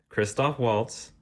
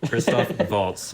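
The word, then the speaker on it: Christoph Waltz: moving up so the number two Ron Perlman Kristoff Waltz Tilda Swinton Kate Blanchette John Church row Finn wolfhard oh repeat one more time Ron Perlman Kristoff vaults apologies for the pronunciation earlier Tilda Swinton Kate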